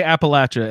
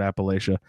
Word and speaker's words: Appalachia: So they say Appalachia in the game, and that kind of threw me off. I always pronounce that word Appalachia.